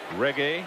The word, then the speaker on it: reggae: Reggae? Yes. Bob Marley is his father. Why are you guys laughing? I knew how to say it, too. Reggae. You said it like you thought it was Italian food.